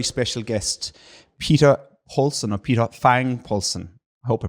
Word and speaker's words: Peter Fangel Poulsen: Yes, my name is Peter Fangel Poulsen. That is the Danish pronunciation, so that's pretty close.